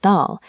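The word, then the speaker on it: ذ: But when you add a dot to create Dhal, you shift your tongue placement. You gently place the tip of your tongue between your teeth to create a vibrating,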